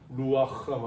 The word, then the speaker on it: 루아흐: 성령이 여러분 히브리어에서는 루아흐라고 하는 루아흐라고 하는데 여기서는 흐 발음을 잘해야 돼요. 흐는 흐가 아니야. 바람을 거칠게 내뱉는 거예요. 루아흐.